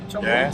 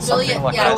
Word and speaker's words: Joliet: Yeah, 2 years ago in Joliet. Is that pronounced it? Joliet, Joliet, Illinois.